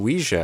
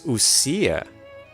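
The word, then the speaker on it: Ousia: That's how you pronounce that. Usa. I was saying like Usia or UA or Ouija. I was saying Ouija, I think, at the beginning. Numa and Ouija, but it's Usia.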